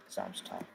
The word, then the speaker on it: Samstag: S is going to be pronounced as Z. Samstag.